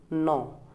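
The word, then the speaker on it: know: Word है टू नो, यहाँ पर के साइलेंट है और इसका नो का मतलब होता है जानना।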